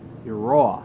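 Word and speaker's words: Eiroa: This is the brainchild of Christian, I always get this wrong, Christian Iroa.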